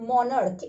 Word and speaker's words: monarch: There is another word, monarch, M-O-N-A-R-C-H. Again you see it ends with ch, but as the pronunciation is like k or k, we are going to add s at the end.